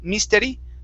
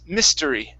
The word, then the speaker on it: mystery: let's go to mystery give me a short eye here instead of me misteri miss mystery mystery mystery good good all right